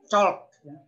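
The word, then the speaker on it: chalk: belum ada itu adalah colk bacanya ini Col tulisannya gini bacanya Col kalau kita ya kapur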